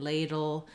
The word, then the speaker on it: ladle: it's a small light little unstressed schwa dull but you really don't want to say lay dull you don't really want a long or clear vowel there at all moving quickly into that